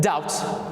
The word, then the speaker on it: doubt: brought them to the modern form doubt with the b there a throwback to that ancient b sound in all latin exomologies although it is not spelled following the french so they took their pronunciation from french but they're spelling from latin now of course das